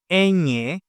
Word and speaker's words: ñ: The letter ñ, pronounced ñ, is not just an N with a fancy hat.